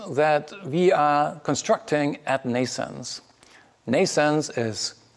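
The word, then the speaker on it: NNAISENSE: we are constructing at nascents nascents is pronounced like birth in english like nations but it's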